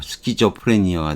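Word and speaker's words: schizophrenia: 그리스어 계통으로, K로 발음이 난 거, 스키조프레니아가 된 거죠.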